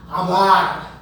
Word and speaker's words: hablar: O espanhol diz hablar e não hablar. Hablar.